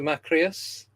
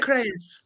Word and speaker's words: Makreas: So we are joined by the wonderful Makreas. I hope I pronounced your surname correct.